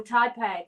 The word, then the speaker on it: Taipei: Oh, Taipei. Thank you. That's how it's pronounced.